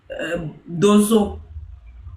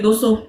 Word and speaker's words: Dosso: Il s'appelle Dozo. Monsieur Dozo, allez-y. Monsieur Dosso. Oui, je suis là. Problème de prononciation avec Dozo. Ça me mélange à chaque fois. Dosso. Voilà, c'est ça.